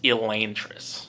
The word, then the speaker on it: Elantris: first ever cosmere novel elantris or as the official brandon sanderson website says it's pronounced elaine tris which i don't agree